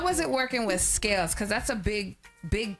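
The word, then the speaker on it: Skales: help me with which one scals or scales scales scales so I was right the first time how was it working with scales cuz that's a big big step right there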